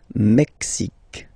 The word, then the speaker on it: Mexique: X, Mexique. It's really the X. Huh? Le Mexique. And then remember this Q-U-E, it's only K.